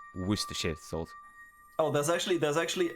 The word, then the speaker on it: Worcestershire: into the words because if you if you read it like every letter it would be pronounced so differently just go worcestershire oh there's actually there's